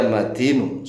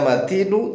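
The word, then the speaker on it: مَتِينُ: Ya qawiyyu ya matinu sab'a marratin. Sebanyak 7 kali. Perhatikan cara membacanya. Ya qawiyyu yu-nya dibaca, ya matinu nu-nya juga dibaca.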